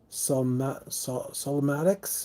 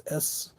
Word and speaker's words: Slomatics: Solomatics, I think is how you say the name. Is Slomatics. And Esteron is the name of the album.